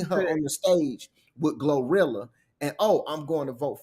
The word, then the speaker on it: Glorilla: Do you know who Gorilla is? What's up? Did I say her name correct? Glorilla.